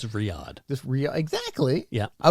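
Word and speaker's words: Riyadh: from um Shirley is from R how struggle pronouncing it Rida okay Riata Riata it's in Saudi Arabia oh Riad it's what I said it's Riad yeah exactly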